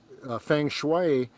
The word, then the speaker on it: Feng Shui: Feng Shui.